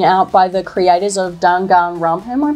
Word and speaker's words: Danganronpa: So there's a new detective game coming out by the creators of Danganronpa. Am I pronouncing that right? Danganronpa. Danganronpa.